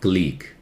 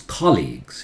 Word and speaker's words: colleague: do you say this it's not gleek as colleagues in Collis red colleague how do you say